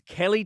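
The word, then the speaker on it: Keleigh: Kaylee Sperry was also KY teller it's Kelly teller yeah I thought it was Kaye SP I thought that too but you pronounced it Kelly okay Kelly teller Kelly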